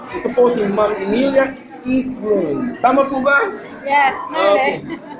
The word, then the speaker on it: Eklund: Ito po si Ma'am Emilia Eklund. Tama po ba? Yes, Okay. Mahirap po kasi i-pronounce po yung Swedish surname niya, pero siya po ay Eklund.